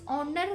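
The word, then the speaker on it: honour: ऑनर इसको पढ़ना, आप इसको ऑनर नहीं पढ़ा, एज इसमें साइलेंट है बच्चों।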